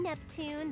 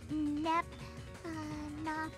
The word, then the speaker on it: Neptune: Hi, I'm Neptune, the film club president. Neptuna! What? I knew it was too good to be true. I'm never gonna be in a game where everyone pronounces my name right.